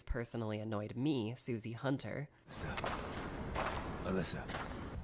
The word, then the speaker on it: Alyssa: Alyssa. Alisa. Alissa. Alisa. Alissa. Alisa. The only thing we can guess about that is simply that it's the Japanese pronunciation of her name, which is backed up